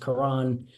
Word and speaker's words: Karen: was fighting a Karen his name is pronounced Karan uh in Ukraine so uh Karan